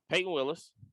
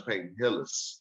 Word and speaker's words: Peyton Hillis: So you got McCaffrey, you got Peyton Willis, you got him. Who? First of all, you even said his name wrong. His name is Peyton Hillis.